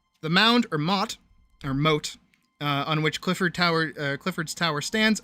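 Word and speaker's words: motte: There was the proper moat, and then there was the mot. Which I pronounced as moat, secondly. Because I didn't know if that's how it was pronounced or not.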